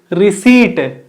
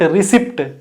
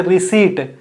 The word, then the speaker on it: receipt: See, you should not pronounce P in it. So right pronunciation is receipt, not receipt. P is silent. So we should say receipt.